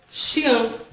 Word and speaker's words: chien: Cachorro é chien. Chien. Chien. Mas você poderia falar, mas por que você está falando ance é em? Mas em língua francesa se pronuncia assim. Chien.